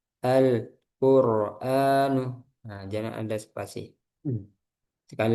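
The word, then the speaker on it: القرآن: Alla aha alahadu alwadudu alqur alqura alquranu al alhadi n algho cukup ee nanti perhatikan hati-hati jangan ada jeda Alquranu. Jadi lamnya habis langsung ke qof. Alquan jangan ada spasi. Alquranu.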